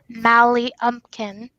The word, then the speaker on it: Mally Lumpkin: But technically pronounced Mally Umpkin, for those who are wondering.